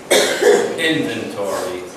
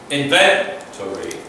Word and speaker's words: inventory: Try to put sometimes the emphasis is at the end of the word as opposed to the beginning. Inventory. No. Inventory. Just a little thing, but it changes the pronunciation. Not the meaning so much, but the pronunciation.